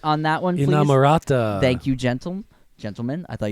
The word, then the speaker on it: Inamorata: The last song, can I get a pronunciation on that one, please? Inamorata.